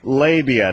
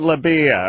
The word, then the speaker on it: labia: listened to Chapelle drew it's pronounced labia not Libya or no no no